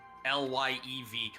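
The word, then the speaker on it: Lyev: It's not the live column. It's the live lyv column.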